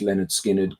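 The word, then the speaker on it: Lynyrd Skynyrd: Also, pronounced Leonard Skinnard, Goodbye, Yellow Brick Road, Quadrofinia, Berlin, Houses of the Holy Tube, but the Bells all came out this year.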